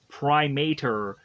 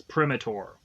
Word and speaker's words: Primator: have called this monster Primator because I assumed that Primate would be an interesting way to kind of connect me with this monster, but come to find out the way it's pronounced, it's Primitor.